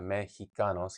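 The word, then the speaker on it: México: Mexicos. Yeah. He ji. But in Mexico, the X makes a he sound as well, right? Because it's spelled MX mex.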